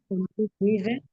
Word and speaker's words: guide: Habíamos dicho que la E final, si no tiene acento, no se pronuncia. Entonces, Andrea, ¿cómo pronuncio mundo y guía? Manda. Monde, muy bien, y guía. Guide. Guide, muy bien, se va la E completamente.